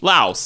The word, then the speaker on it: Laos: It's pronounced Laotian. They're not from Loas. They're from Laos. That's all. That is true. Excuse me, old hell. Sorry. Sorry. We got it right. It was Laos. Laos.